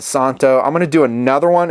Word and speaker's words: Szanto: box you saw already the Z is silent they're calling it Santa I'm gonna do another